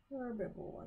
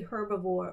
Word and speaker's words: herbivore: Herbivore. You could say herbivore or herbivore because you can have a silent H.